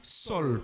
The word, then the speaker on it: Saul: dit Saul alors et des fois on prononce aussi sol parce que a u ça fait ça fait o alors qui veut dire